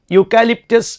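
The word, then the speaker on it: eucalyptus: of police എന്നാണ് അടുത്ത word നോക്കൂ ഇത് വായിക്കുന്നത് യൂക്കാലിറ്റസ് എന്നാണ് യൂക്കാലിറ്റസ് എന്നാണ് അല്ലേ അപ്പോ യുകാലി യു യു യആണ് ഉച്ചാരണം വരുന്നത് പക്ഷെ ആരംഭിച്ചത് ഏതുകൊണ്ടാ ഇയു അല്ലേ ഇവിടെ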